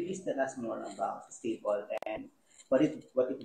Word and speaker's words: STAPPL: Uh first is could you please introduce yourself and your role sa how how do you pronounce it? Staple. Staple po.